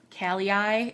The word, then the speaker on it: Kallei: It's Kallei. So, Kallei is how I'm going to pronounce that.